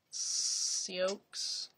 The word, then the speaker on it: Sioux: It's pronounced Sioux.